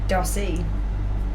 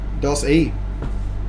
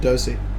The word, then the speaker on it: Dossy: Pronunciation. Dossy. Doss-E. Not Dosey.